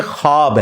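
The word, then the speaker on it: خواب: ख व अलिफ बा लेकिन पढ़ने में यह खवाब है व साइलेंट हो जाता है ख्वाब पढ़ा जाता है यह लफ्ज उर्दू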